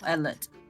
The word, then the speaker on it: Ellet: I'm stupid it's okay it's it's like Elliot but uh without the e oh Ellet yes okay so should